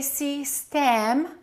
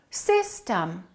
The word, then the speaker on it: system: We don't say C stem. We say system. The first syllable is stressed. The second syllable is reduced.